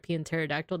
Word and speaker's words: pterodactyl: why is there a pterodactyle that's a good point that's a good point you can't hear him go to the the bathroom because the p is silent let skip this one